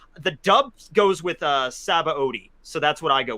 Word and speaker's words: Sabaody: is not accurate the dub goes with uh saba odi so that's what i go with saba odi i just change my pronunciation of it every time just to confuse